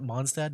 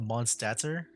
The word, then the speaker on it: Mondstadt: Or I guess, you know, with Mondstadt, you don't pronounce the T at the end. Do you? Mondstadt. I always pronounce it with the D at the end and not the T.